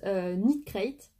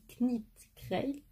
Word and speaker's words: Knit Crate: Alors, c'est la box Knit Crate. Vous avez vu, j'ai bien prononcé. J'ai entendu que le K ne se prononçait pas, sinon j'aurais dit Knit Crate.